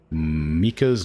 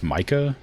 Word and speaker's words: Mika: Mika's Lucky Deerfoot. I would say that is pronounced Micah, but it's Mika, apparently. According to the hunter.